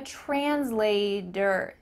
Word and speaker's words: translator: I'm a translator. Do you notice how I added a D in the middle of this word? That's because in American English, that T often changes to a D.